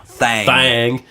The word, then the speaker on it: Thang: Thang. Rhymes with thong. Actually, it doesn't. No. It should. It looks like thong But it's not. if you changed a vowel.